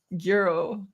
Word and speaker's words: gyro: like a yeah or maybe it's like a silent G no she just said it's like Euro oh I I understand